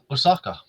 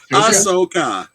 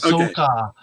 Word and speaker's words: Ahsoka: I would go Osaka. I'm not a Star Wars fan. However, Osaka is probably one of the Asuka.